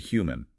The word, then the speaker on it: human: You have to make that 8 sound at the beginning. Who? And the stress is on the first part. Human. It sounds a bit like human, but with an H.